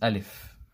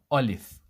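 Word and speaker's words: ألف: The first one is making the a sound heavy. O O olif ol if this is wrong.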